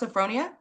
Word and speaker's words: Sophronia: Um, if you your name is pronounced Sophronia. Yes. Sophonia.